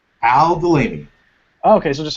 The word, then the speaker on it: Aldulaimi: Al Delaney.